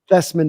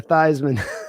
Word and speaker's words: Theismann: Yeah, like when Joe Theismann changed his last name so it would rhyme with Heisman. That's right. Yeah, Thesman to Theismann.